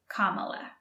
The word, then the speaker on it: Kamala: Harris Kamala Harris and be careful with the pronunciation Kamala what ocean is on the east coast of